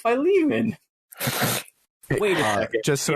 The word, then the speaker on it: Philemon: care also they say philemon in the game sure um but i just now i was like wait a second i know what philemon is that's from the bible and it's pronounced by lehman wait a second just